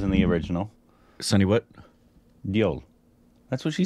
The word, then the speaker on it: Deol: Deol. That's what she said, right? I don't remember. I just remember we say Dole. I don't remember her proper pronunciation. I think it was Deol.